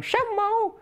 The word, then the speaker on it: chamois: and we actually saw some chamois or as i insisted that we pronounce it for our dear performer of michael jackson we should call them shamo so uh yeah they